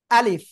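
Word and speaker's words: ألف: আলিফ। কি বললাম? আলিফ। কিভাবে উচ্চারণ করতে হবে?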